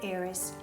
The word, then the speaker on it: heiress: Ci sono solo 5 eccezioni in inglese di parole che iniziano con la H dove la H è muta e sono our, allora, honest, honor, heir and heiress e i loro derivati.